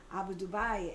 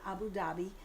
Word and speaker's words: Abu Dhabi: have a client in Abu Dubai and that's how you say it. It's not Abu Dhabi. I learned how to say Abu Dubai.